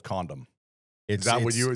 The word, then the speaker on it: Condom: 10 minutes away called Condom. Is that what you were going for? Yes. It's said exactly like it's spelled.